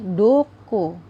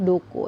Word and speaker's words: どこ: lihat yang pertama ada Dukuh ya ini dibacanya adalah Dukuh ya duku duku ini artinya adalah kemana